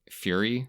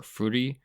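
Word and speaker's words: Furi: had this very same issue last year playing fury or foodie f-u-r-i however you want to pronounce it where i got through all the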